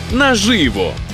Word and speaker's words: наживо: наживо наживо наживо наживо зафіксували у слові наживо наголос буде на звук и наживо наживо наживо перестрибуємо в наступну частину екзамену цікаві